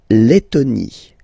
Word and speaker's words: Lettonie: So remember when you've got this E and then a double letter like that, T, T, okay, then you will have to open your E and it will become E, Le, Lettonie.